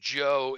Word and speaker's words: Zhou: Again, that is pronounced Zhou in English.